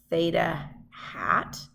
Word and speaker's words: theta hat: how to say this this funny symbol is a hat symbol this is Theta hat it's not a super